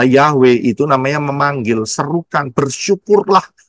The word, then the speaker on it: Yahweh: lihat Panggil itu jelas y he W he nulisnya dan e eh pelafalannya adalah yahwe itu namanya memanggil serukan